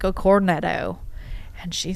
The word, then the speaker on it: cornetto: So, I was like, "Yeah, I'd like a cornetto." And she says, she looks at me and she has no idea what I'm saying. And I'm like, what? It's a cornetto.